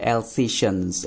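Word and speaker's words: Alsatians: और अगर हम इसकी जो एक्चुअल प्रोनाउंसिएशन की बात करें तो वो है एल्सेशियंस। एल्सेशियंस डॉग आप इसे बोल सकते हैं बच्चों।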